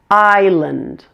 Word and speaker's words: island: silent letters number 10 island the only tricky thing about this word is that it has a silent s pronounce it like this island and the a and